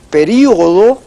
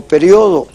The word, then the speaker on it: período: si se escribe y se dice período, tildada, o periodo. Y le dije, es una palabra heterógrafa, ustedes la pueden escribir con tilde o sin la tilde.